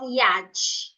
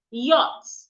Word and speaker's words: yacht: This word is not yacht. The C and H should not be heard. Yacht. Don't say yacht.